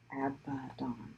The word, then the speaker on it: Abaddon: This is Stuart says, I used to say Abaddon Black, where Abaddon sounds like Aladdin rather than Abaddon. Oh, I said it wrong the first time too, apparently. Where the A is like apple. Abaddon.